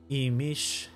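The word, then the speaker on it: Imix: Emish.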